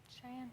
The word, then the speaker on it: Cheyenne: We're talking about patterns here, and we talked to a friend of yours, and how do you pronounce her name? Cheyenne.